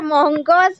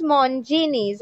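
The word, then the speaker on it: Monginis: का एक, अच्छा मोंजिनीज, अच्छा मोंगोस नहीं है, इट्स मोंजिनीज, ओके?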